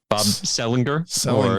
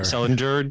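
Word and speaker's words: Sehlinger: I want to say Bob Sellenger Sellender depending on whether you like hard G's or soft G's.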